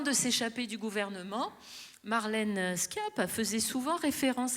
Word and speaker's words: Schiappa: D'ailleurs, vous savez, l'ex-ministre Marlène Schiappa, je dis Schiappa parce que, attendez, rassurez-moi, il y a des linguistes dans la salle. Le SCHI se prononce bien ski en Corse. Donc Marlène Schiappa. Parce que là-bas, ils disent Chapa.